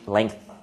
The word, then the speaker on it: length: Okay, shoulder, long, length, and the pronunciation is th, length.